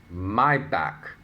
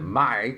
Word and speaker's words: Maybach: She pronounced it Mai correctly, even though it's spelled M-A-Y.